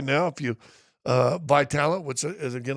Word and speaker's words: Vitalant: And so, this month right now, if you Vitalant, what's it Is it going to say it looks like it's pronounced Vitalant? At least if you're from Kansas, but it's Vitalant, v i t a l a n t.